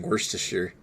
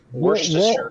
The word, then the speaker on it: Worcestershire: Worcestershire. Worcestershire. Worcestershire. Worcestershire. Yeah. It's Worcestershire. I don't know why. The root word's Worcester, and then Shire is Worcestershire.